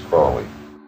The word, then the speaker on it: Crowley: My name is Aleister Crowley because that I am holy. My enemies say Crowley and wish to treat me foully. So, now you'll never forget how to pronounce it. It's Crowley.